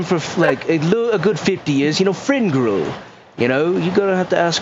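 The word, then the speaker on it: Fringrul: Did you say his name was Finril? DM forgotten name. Shut up. You have to ask Fringrel.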